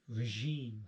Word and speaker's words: regime: We say regime, and we say regime because it's a French word, so we try to use the French pronunciation.